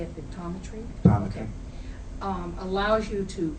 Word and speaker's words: Pictometry: And Stan, the pictometry, is that how you say it, pictometry?